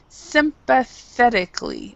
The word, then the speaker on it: sympathetically: And as far as pronunciation, sympathetically is how we say it in English. Sympathetically. So this A is not a.